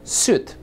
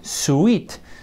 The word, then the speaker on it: suit: occasion this is a suit ahuh and notice how in the pronunciation we don't say suet so we don't pronounce the letter I and we only say suit okay so that's a